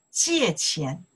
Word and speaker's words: 借钱: Say, 借钱, 借钱. 借钱, okay, J-I-E, 借, 借钱, okay, four tones, 借钱.